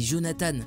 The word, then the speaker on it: Jonathan: pour ton message mais tu as juste massacré mon prénom c'est Jonathan s'écrit comme ça mais merci